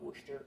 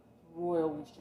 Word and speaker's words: Worcester: We can have a great debate on how to pronounce Worcester. Some people with Chestershire, Worcester. Apparently the people of Worcester call it Worcester, so I call it Worcester sauce, but it looks like it's Worcestershire. This is royal Worcester sauce.